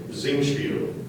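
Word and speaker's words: Singspiel: at the Opera House are there any alternate pronunciations there's one zingi may I have the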